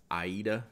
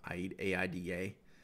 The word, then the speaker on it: Aida: allen my visconti is the aida is how you say it like the opera aida it's really pretty if